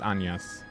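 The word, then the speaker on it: Agnès: Yes, it actually is pronounced Agnes. The E has an accent on it, so it's exactly that pronunciation, yes.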